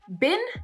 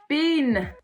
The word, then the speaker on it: bin: is the fact that when we have a word in English with a short vowel you French speakers elongate the valve for example bin becomes bean bean and that actually is a different word bin and bean if